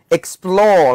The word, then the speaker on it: explore: Thông thường với động từ hai âm tiết, thông thường nhá, động từ hai âm tiết trọng âm sẽ rơi vào âm tiết thứ hai, cho nên là mình